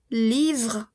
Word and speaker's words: livre: L comme livre. Livre. No pronuncio mi E.